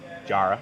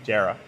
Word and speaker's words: jarrah: Jarrah. Jarrah.